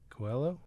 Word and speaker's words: Coelho: Coelho? That's how you pronounce it.